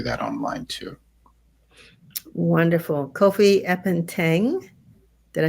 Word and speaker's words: Appenteng: Kofi Appenteng. Did I say it correctly this time? Appenteng, yeah.